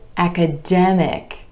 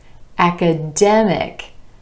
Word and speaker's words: academic: When we add the IC ending, the stress shifts to the OR sound right before the suffix, historic.